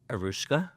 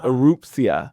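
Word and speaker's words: Erupcja: It's called, and I've tried to rehearse this, and I'm sure I'm going to say it wrong, Arushka? No, you're so close though. Erupsia.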